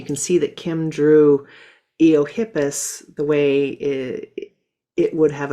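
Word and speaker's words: Eohippus: I know that there's the Eiohippus, if I I hopefully I pronounced that right.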